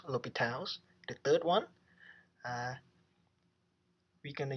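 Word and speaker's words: L'Hôpital: sandwich sandwich theorem another one we gonna use l'hopital's rule remember this is pronounced l'hopital's the third one we're gonna use a theorem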